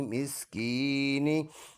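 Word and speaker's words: مسكين: मिस्कीन, नून ज़ेर नी, मिस्कीनी। स्टॉप करेंगे तो नून का ज़ेर साइलेंट कर देंगे, मिस्कीन बन जाएगा।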